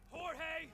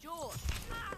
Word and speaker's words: Jorge: Last one up gets it, Jorge! My name's pronounced George.